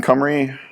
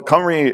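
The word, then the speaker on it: Cymru: soon know uh team camry and the way you pronounce that is comrade the easy way to remember that is to take the y and the u and flip them around and then that's how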